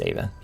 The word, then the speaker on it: Ava: right right yep okay I keep pronouncing it Eva because it's a it's a hearty but it's uh it's Ava so the under gutter